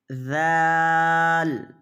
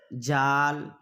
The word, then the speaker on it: ذال: ضاد ہے، وا ہے۔ یہ چاروں حرف کے تلفظ کیا ہیں؟ الگ الگ ہیں، بالکل الگ الگ ہیں۔ لوگ عام طور سے سب کا تلفظ ایک ہی کر دیتے ہیں، جال، جا، زاد، زا، سب کا تلفظ الگ الگ ہے۔ ذال، ذال، ذال، کیا ہے؟